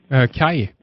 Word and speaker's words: Kaj: Kai. Kai. I think I don't know him. He's from Denmark, I think. So Kai is how we would pronounce it up here in Sweden anyway.